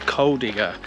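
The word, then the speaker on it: Kuldīga: I'm not sure how I pronounced the town earlier, but it's Kuldiga. So if I pronounce it differently, I apologise. The way I'm going to remember it now is, I ain't saying she a coal digger.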